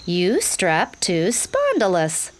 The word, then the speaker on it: Eustreptospondylus: That's pronounced Eustreptospondylus, but you can call me.